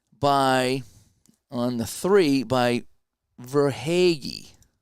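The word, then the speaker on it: Verhaeghe: so it could chuck setting up verhagi that's how you say his name and we're tied at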